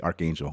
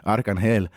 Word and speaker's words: Arcangel: I was going to say Archangel. Well, that's how you say it in English, but Arcangel.